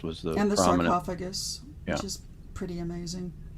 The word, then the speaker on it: sarcophagus: Sarcophagus, which is pretty amazing. It's pronounced sarcophagus.